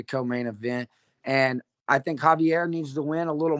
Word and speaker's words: Javier: Is it Javier? Javier Garcia.